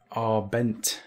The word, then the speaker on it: Abend: It's pronounced Arbent, Sam. Guten Abend. Is that right? Sounds perfect.